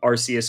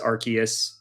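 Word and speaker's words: Arceus: But I mean, you know, there's there's so many people people say that I mean, Arus, Archus, um yeah, the same thing, right? Like some people just it's a little bit different, but um you know, to each their own.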